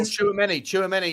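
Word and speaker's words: Tchouaméni: Is that how you pronounce it? Chouamani from Real Madrid? Chouameni, yeah, of Real Madrid fame.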